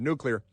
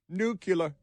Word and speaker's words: nuclear: couldn't pronounce the word nuclear. Nuclear. Don't say nuclear. Say nuclear. It's an important word. Pronounce it correct.